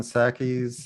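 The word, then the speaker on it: Psaki: professor randley all right did you know that jen sackey's uh p is silent yes that's what i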